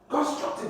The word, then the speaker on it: constructive: Constructive, when a word ends with what? IVE, you stress the second syllable, that is tive.